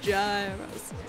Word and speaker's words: gyros: It's pronounced Euros. Gyro. Gyro. There's got an S on the end, definitely. Gyros.